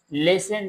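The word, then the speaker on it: listen: होते हैं वो है लिसन मी केयरफुली। इसमें जो टी है ये साइलेंट है।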